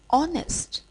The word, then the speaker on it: honest: or mute for example honest honorable are all these words begin with h and h is silent so these words begin